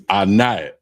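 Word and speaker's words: ענב: First word is grapes, and it's anab, and it's spelled I-N-A-B, I-N-A-B, anab.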